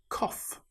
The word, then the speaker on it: cough: In this example, the gh sounds like the f sound. It's the same with cough.